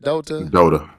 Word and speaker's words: Dota: Dota.